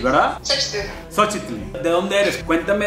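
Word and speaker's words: Xóchitl: Epa, ok, estoy a punto de hablar con Xochitl.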